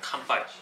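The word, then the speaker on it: 乾杯: me how do you say cheers in Japanese compai compai compai compai compai y we're on like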